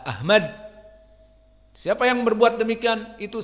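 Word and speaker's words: أحمد: Ahmad dengan ha, Ahmad.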